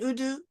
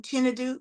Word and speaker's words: Chinadu: I'm now going to welcome Apostle Innocent Udu. I'm saying it wrong, Chinadu, Apostle Chinadu.